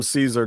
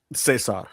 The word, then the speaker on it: Cesar: He's playing the exact same part, but they call him Caesar Don. That's right. Yeah. Cesar. Sorry. I have to say it correctly or Tony will get mad at me.